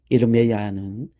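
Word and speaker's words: ירמיה: 예레미야의 히브리식 발음은 이르메야입니다. 이르메야는 하나님께서 세우시기를 또는 하나님께서 높이시기를 이라는 뜻을 가지고 있습니다.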